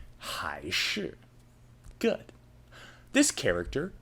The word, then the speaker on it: 还: Chinese like when choosing between a or b high shoe good this character pronounced hi is an adverb like in haikui which means it's okay but not perfect as a verb this character is pronounced Juan and means to return something a common example